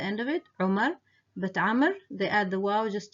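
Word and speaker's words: عمرو: The other is the name Amr, Amr. So Amr has a waw at the end of it, which is not pronounced, and that was mainly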